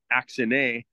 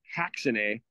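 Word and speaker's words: ἀξίνη: And so, although in the Greek there, it would think that it's axine, it actually is pronounced haxine.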